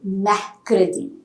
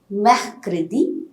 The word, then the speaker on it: mercredi: I'll tell you why we are not pronouncing R when we discuss about pronunciation rules. Then Wednesday is Mercredi.